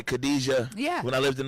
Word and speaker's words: Khadija: Like over here, we say Khadija. Yeah. When I lived in the Middle East, it's Hadija.